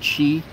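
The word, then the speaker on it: Qi: have the week that I think it's pronounced Chi Chi certified a lot of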